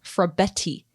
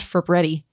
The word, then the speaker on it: Frabetti: And I did see that somebody tweeted like, hey, by the way, everybody, Frabetti. Don't add another R. It's not Frabetti. It's Frabetti.